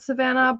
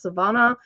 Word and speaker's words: Savannah: everybody pronounces it at Savannah but it's actually Spanish and it should be pronounced Savannah and that's why um